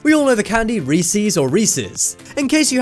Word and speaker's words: Reese's: Reese's this one is kind of like the Jif or gif one is it has a correct answer the correct way to say it is Reese's not Reese's and 58% of people